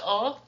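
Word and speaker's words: を: knee and head so oh points to the direct object uh and it's the direct object involved followed by the event so it's pronounced o but it's typed and written as wo um C I drink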